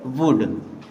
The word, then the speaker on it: would: अब WOULD, यहाँ पर भी एल साइलेंट होगा और इसे पढ़ेंगे वुड।